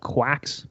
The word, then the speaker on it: Quax: About a year and a half ago, I started a podcast called Quacks Podcast, and it's basically like quack doctors. You can think about it, but it's spelled Quax.